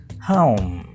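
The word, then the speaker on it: home: ये ओ जो है यहां एक आवाज नहीं है। इसे ग्लाइडिंग साउंड्स कहते हैं। इंग्लिश के स्टूडेंट्स जानते हैं इसे हम कहते हैं डिफथोंग। तो ये है डिफथोंग। आपने हो नहीं कहना।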